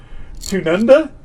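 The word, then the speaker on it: Tanunda: here's another one i don't know how to pronounce tunanda uh uh let me have a little let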